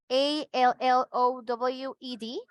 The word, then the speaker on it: allowed: Just remember the correct pronunciation for this action, allowed. A-L-L-O-W-E-D. We're using E-D, but it's allowed.